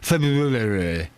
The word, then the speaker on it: February: You know when you say February, when you think it's you say that and you pronounce all the R's. It's not a joke. That's called pronunciation. I'm pronouncing the word correctly. I'm pronouncing the R.